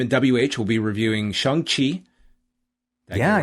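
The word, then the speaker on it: Shang-Chi: on tuesday him and wh will be reviewing shang qi yeah right you got the proper pronunciation that is correct i look forward to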